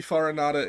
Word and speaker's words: Farinata: great despite yeah it's it could be farinata can be fata it depends on which dialect of Italian you're you're you're pronouncing the name in um so either works